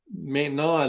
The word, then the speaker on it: maintenant: It's MUSIQUE with the accent aigu, and then maintenant, it looks like maintenance, MAINTENAINT, and you don't pronounce the T on the end.